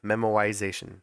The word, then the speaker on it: memoization: memoization is a word I did pronounce that correctly memoization there's no R in there I'm glad that you